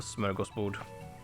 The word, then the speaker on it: smörgåsbord: taken from our language, but cannot pronounce because it's got and o in it. And so therefore they omit that and just have an O and an A instead. Because they can't pronounce it, and so they just go whatever they say instead of smörgåsbord.